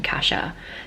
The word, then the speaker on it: Cassia: name is supposed to be pronounced cat Asha c a SS I a but in no world am I going to pronounce her name casha because I can't help but think of Kesha